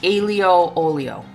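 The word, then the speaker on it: aglio e olio: I've been told this is pronounced alo olio. So hopefully that is correct.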